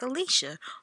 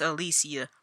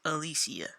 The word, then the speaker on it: Alicia: I know it's spelled like Alicia, but it's Alicia. I promise you, it's pronounced Alicia.